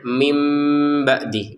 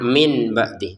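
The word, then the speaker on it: مِنْ بَعْدِ: Nun sukun bertemu ba dibaca nunnya dibalik menjadi huruf mim. Jadi bacanya mim ba'di, bukan min ba'di.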